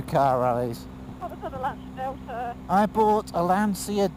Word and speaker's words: Lancia: rallies i bought a lancia delta or lancher as it's supposed to be pronounced hf hf turbo it